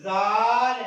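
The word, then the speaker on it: ذال: طلبہ اس کے بعد زال کا عربی زبان میں تلفظ زال ہے، یعنی کہ اگر ہم عربی میں اس کی آواز کو نوٹ کریں، اس کے تلفظ کو نوٹ کریں تو وہ زال ہے۔ عزیز طلبہ زال جنس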